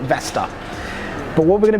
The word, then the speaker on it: Vestar: taking a look at the Vestar or the Vestar Black Hawk, depending on how you want to pronounce the name. I'm going to call it Vestar.